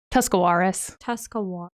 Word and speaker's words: Tuscarawas: Because I deal with that one a lot and I don't know how to pronounce it. Tuscarawas.